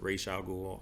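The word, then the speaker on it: Ra's al Ghul: around uh Raza ghoul you can pronounce it racial Google I don't care I'm saying Ra's al ghoul because that's what I said Forever Until Batman Begins and so I'm just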